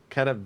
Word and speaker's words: Katowice: Well, I did stammer, but or not Vice, They- but it's Katowice. they want us to call it the Intel Extreme Masters World Championship, I believe. Okay, but the city that it's in, it's Katowice.